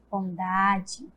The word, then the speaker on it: bondade: Bondade. Tem um som fraco, né? E quando tem um som fraco, significa que é a vogal E com som de I. Bondade.